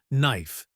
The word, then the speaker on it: knife: A good example of this change is in the word knife. In Middle English, it was pronounced neef, but after the vowel shift, the K became silent, and the E turned to the diphthong AA.